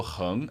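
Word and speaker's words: héng: And then I saw heng, H-E-N-G with a second tone.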